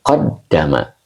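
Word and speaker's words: قَدَّمَ: adalah huruf syarat Oke dibaca qaddama ya Jadi inqaddama fainqaddama qadama ini Majid satu ya dibacanya pakai tasdid jadi qoddama inqaddama qoddama fi'il Madi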